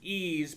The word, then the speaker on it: Ys: of you guys played ease it's spelled Ys what it's it's it's it's pronounced ease but it's spelled y it's spelled Ys I never played it